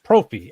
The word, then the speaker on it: Proffie: It's Proffie, and God bless Jeff. Jeff is always going to be a Proffie pronunciator. Yeah, Birch, like he pronounces it like he's from Canada.